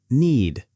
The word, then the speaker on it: knead: Knead. Knead. Knead the bread dough for 10 minutes. Again, silent K.